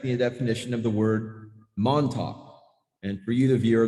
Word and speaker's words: Montauk: was just about to finish the manuscript for Montauk Revisited. Before I called the book complete, I wanted to go to the library and check the definition of the word Montauk.